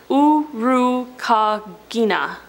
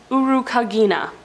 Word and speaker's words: Urukagina: Urukagina. Urukagina. That's how you say it. I looked it up.